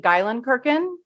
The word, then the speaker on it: Geilenkirchen: your compatriots call you we say gyen kirkin yeah so it's it pronounced just how it looks but the German that